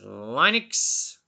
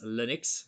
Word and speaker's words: Linux: processors then we have Linux which some people pronounce as Linux so as opposed depends on where you're from this one was originally